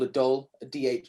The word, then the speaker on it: dhol: i play an indian drum uh called a doll a d8 it's spelled dhol using these sorry use using your